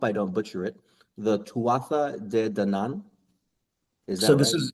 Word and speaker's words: Tuatha Dé Danann: The Tuatha Dé Danann. Is that it? is Yeah, this is a group of people My understanding is it's best pronounced Tuath Dé Danann.